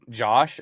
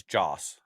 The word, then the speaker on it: Joss: And it's not Josh, it's Joss.